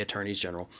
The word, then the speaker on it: attorneys general: attorneys general right now, which yes, that is how you say it, and I know it sounds weird, but you do say attorneys general, they're all so busy